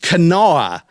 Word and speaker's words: Kanawha: from kanawha county west virginia you know it's pronounced kanawha it's kanawha county west virginia and i just thought that